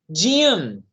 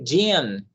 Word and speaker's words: gym: Next, gym. To practice exercises. Okay, gym. Take note, people. Nota aí. And practice our pronunciation. Yeah? Gym. Similar Jim Gray.